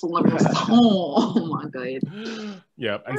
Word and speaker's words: Leviosa: I think it's pronounced Leviosa. It's not pronounced Wingardium Leviosa. It's Leviosa.